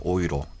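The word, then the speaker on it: Euro: 스페인은 이탈리아 스페인은 그다음에 그 독일어로는 오이로라고 해요. 오이로. EU가 오이 발음이 나기 때문에 그때는 독일에서는 유로가 나오자마자 뭐라고 하냐면 오이로 이스트 토이어.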